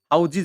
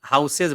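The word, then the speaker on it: houses: यो हाउस छ नि हाउसको प्लरल चाहिँ हाउजज हुन्छ है। हाउजज भन्नु होला। कतिले हाउसेज भन्दिन्छन्। अब त्यस्तो हाउसेज जस्तो त्यस्तो नभन्नुहोला। यसलाई हाउज नै पढ्नुहोला है।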